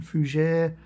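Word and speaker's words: Fougère: if you have the bourgeois ier I think it's pronounced correct pronunciation fujere let me know what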